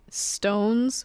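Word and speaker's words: SixTONES: recent ones are snowman Stones which is spelled six stones but you say stones I don't know that's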